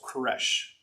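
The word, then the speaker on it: כורש: says of cyrus and the word cyrus here in hebrew it'd be pronounced koresh does that sound familiar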